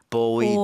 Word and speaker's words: buoyed: 이렇게 떠 있는 것은 스펠링이 B-U-O-Y 했을 때 buoy라고 buoy, 하는데 이게 buoy를 당했다 이렇게 쓰려면 buoyed가 아니라 boyd로 Boyd. 마치 뭐 남자아이 얘기하는 것처럼 boy처럼 With a 발음이 D.